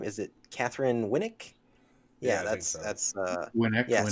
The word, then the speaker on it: Winnick: Is it Catherine Winnick?